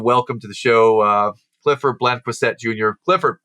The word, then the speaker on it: Blanquicet: Blanquicet is how you might say it in the South. Blanquicet. Blanquicet is how I tried to pronounce it, and I butchered. That's not how you say it nowadays.